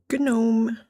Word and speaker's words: gnome: Especially when it comes to terminology and pronunciation. Yeah, well, you're in my house now. We say gnome in here.